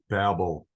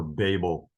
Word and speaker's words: Babel: We're going to learn about one revolutionary thing that occurred during the incident of the Tower of Babel, or Babel. It's Bavel in Hebrew. The middle B is pronounced as a V.